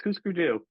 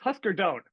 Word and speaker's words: Hüsker Dü: And and just for people that ask and and know, it's it's Hüsker It's It's Hüsker Dü. You're saying it wrong. It's a Hüsker Dü. It's It's Husker Don't.